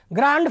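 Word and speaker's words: grand: और तुमने ग्रैंड father कहा, भाई विश्व स्तर का उच्चारण है ग्रैंड, और ग्रैंड में भी डी है जो साइलेंट है.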